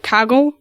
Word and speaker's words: Kaggle: have a lot of tools right now like kagle which makes a diverse set of data sets